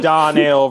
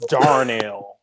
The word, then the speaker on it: Darnell: slang head no no we can say don l versus darnell no one puts an r in there it's a weirdos i